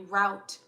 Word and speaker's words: route: I'm hearing two words I'm hearing root and like not root I should pronounce it differently route are you r o u t route and plan um and